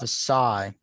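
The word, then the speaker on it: Ossai: second best player on the board so joseph assai yes sorry that's how you say his name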